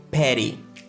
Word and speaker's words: petty: Les deux T se transforment en une sorte de D rapide.